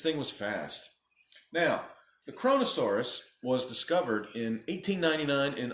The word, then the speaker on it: Kronosaurus: is called listen closely kronosaurus kronosaurus chrono Sarris only four syllables not corona soros kronosaurus this bad boy